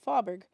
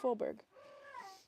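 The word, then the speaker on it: Fåberg: And if you don't know how that a is pronounced, a with a circle over, you would call it fabberg. And if you said fabberg really fast, um, in English, fabberg or American dialect, or actually, she's British, it would sound a bit like father, but it's actually a with a circle over is pronounced fberg.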